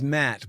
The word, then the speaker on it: Maté: So, it is it is Matt, but it's more more emphasis on the first sort of part of it, though.